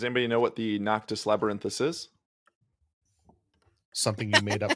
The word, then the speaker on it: Noctis Labyrinthus: What you got, Noctis Labyrinthus? No. No. I think that you're missing a syllable there. Noctis. I don't think I am. Labyrinthus. Labyrinth. You said labyrinth.